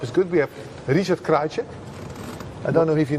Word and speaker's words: Krajicek: We have Richard Krajicek.